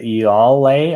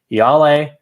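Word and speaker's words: Ialai: word play with iyale i mispronounced her name in the last uh review that i did i think i said y'all lay i was trying to add too many l's and i got corrected there on discord so i'm gonna say right now yale probably won't have to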